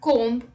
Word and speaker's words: comb: b rule number one b is not pronounced after m at the end of a word let's look at the examples dumb limb crumb comb bomb thumb climb tom